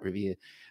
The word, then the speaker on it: Revere: I had the 1558 Revere got to say it like that, Revere.